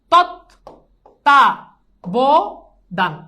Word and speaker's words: তত্ত্বাবধান: দেখো তৎ তা ব দান, তত্ত্বাবধান, শেষ।